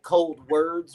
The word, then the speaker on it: ColdWards: It's kind of pronounced like cold words, but it's ColdWards.